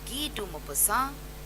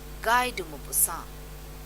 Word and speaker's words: Guy de Maupassant: Now there are different ways in which people pronounce it, but in French, France, if you go, you will hear people saying Guy de Maupassant, or you will hear them saying Guy de Maupassant.